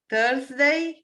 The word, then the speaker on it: Thursday: good idea i see you in mall on thursday november and thursday at 5 30 5 30